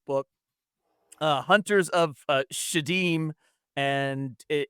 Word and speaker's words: Sheydim: I don't know if it's backwards, but um and then in in uh for I guess with Muslim, the pronunciation is shadim.